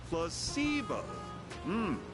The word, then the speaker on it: placebo: to our vocabulary today repeat after me placeo the stress is on the middle C very good